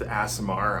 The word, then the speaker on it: Aasimar: will see you tomorrow also it's pronounced a samar I was just screwing